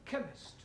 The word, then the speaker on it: chemist: Ali yes please spell chemist oh blame me k e n chemist does not begin with a k it sounds like it begins with k c h but that is making it chemist no the CH is